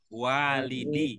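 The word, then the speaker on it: والدي: Kalau digabung jadinya walidi.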